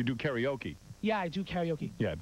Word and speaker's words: karaoke: karaoke yeah i do karaoke yeah tell hank it's karaoke not karaoke it's karaoke hank there's it's spelled all right karaoke it's a japanese word have you two ever